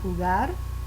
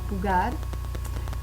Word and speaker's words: pulgar: The thumb, el pulgar, accent on the last syllable, el pulgar.